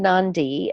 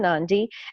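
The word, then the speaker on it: Nadi: went we landed in Nandi in the Fijian language adea's pronounced like an ND so we landed in Nandi and then we took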